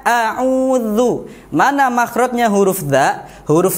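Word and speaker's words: أعوذ: Ya, bacanya a'udzu. Mana makhrajnya huruf dza? Huruf dzal. Huruf dzal itu makhrajnya ialah ujung lidah bertemu dengan ujung gigi seri atas. Jadi otomatis lidahnya sedikit keluar. Dza, zi, zu, a'udzu.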